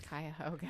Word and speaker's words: Cuyahoga: I swear on my life, it's Cuyahoga.